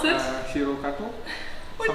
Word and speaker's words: HiroGato: And you started HiroGato, and I learned that I'm like not pronouncing it correctly, so how would you pronounce it? HiroGato.